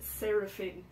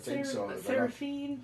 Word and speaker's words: Seraphine: my top three are all Fusion drummers Danny sarapin is that how you say his name seraphine sarapin uh wow like Powerhouse out and out